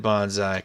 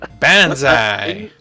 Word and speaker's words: bonsai: LOL so I said Bonsai correct pronunciation is Bonsai get it right slick okay okay bansai okay choose to be